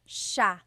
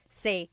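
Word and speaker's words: siya: It's sha sha. The s i y combination makes the sha sound in tagalog. Some regions say sa but in the luzon central luzon area in the tagalog region it's sha sha.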